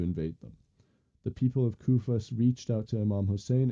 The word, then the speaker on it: Kufa: And there came a point where Yazid was invading a town called um Kufa. Uh yeah, Kufa. I believe that's how you pronounce it.